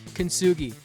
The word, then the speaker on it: Kintsugi: Enter Kintsugi. Pronounced kintsugi, named after the Japanese art of turning broken pottery into something beautiful and resilient.